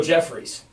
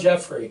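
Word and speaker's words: Jeffery: I'm happy that we say Jeffrey, because even the analysts go Jeffries. Yeah, no S on the end there. I always say Alshon Jeffrey, and I pronounce names wrong all the time.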